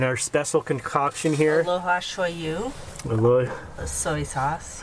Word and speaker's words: shoyu: Aloha shoyu.